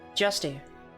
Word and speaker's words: Justy: Justy. Rhymes with nasty.